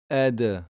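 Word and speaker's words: دْ: La lettre del avec S soukoun, c'est ed. Donc là, pareil, rebondissement. Le ba, le jim, le del, on fait un rebondissement. Parce que si tu dis ed et que tu ne rebondis pas, on entend difficilement le del.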